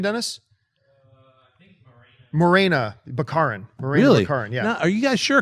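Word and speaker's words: Morena Baccarin: actor new actor continuity shity remember the phrase Monica backin she's in it Gina corano and TJ Miller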